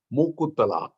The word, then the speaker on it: Mukuttala: This temple, of course, in Kerala circles, they call it as Mukuttala. It's not known really as Muktisthala, but maybe the local language slightly changed it to Mukuttala Bhagavati.